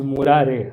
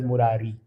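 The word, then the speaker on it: मुरारे: And by the way, it's Murare. A lot of new age singers are singing it as Murari. It's an incorrect way of pronouncing Bhagavan's name.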